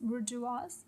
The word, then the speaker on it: bourgeois: और इनका नाम भी दिया है कि higher classes are known as बुर्जुआजी, वी pronounce it as bourgeois, and lower class is known as proletariats.